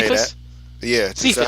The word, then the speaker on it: Cephas: how to say Cephas. Yeah, is that how you say it? Yeah, Cephas.